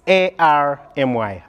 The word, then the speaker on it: Army: It's A-R-M-Y, Army. I think it depends on where you're coming from. We call it Ami over here, you know, the American Army, the Ugandan Army.